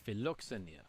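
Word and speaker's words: φιλοξενία: Am I pronouncing that word basically right? In more modern Greek, it's called philoxenia, which means hospitality. Oh, philoxenia. Yep. Like Philios. Exactly, meaning friend.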